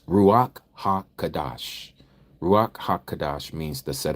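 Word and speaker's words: Ruach HaKodesh: we don't say it that way but it's ruak ha kadash Ruach hakadash means the set aart spirit in English.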